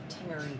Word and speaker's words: Tenerife: Also, Alana, it's pronounced Tenerife.